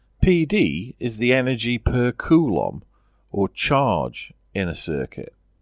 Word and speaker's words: coulomb: 1 volt means 1 joule for each coulomb of charge. Coulomb is named after a French scientist, so it's probably more likely to be pronounced coulomb.